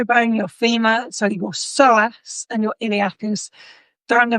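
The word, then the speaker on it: psoas: Um often the SOASS which is spelled P S O A S uh often the SOAS is known as the store of all stress in soatic terms.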